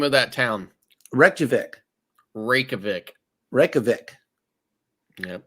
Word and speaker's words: Reykjavik: Reykjavik. Reykjavik. Yep, Reykjavik. I pronounced the J.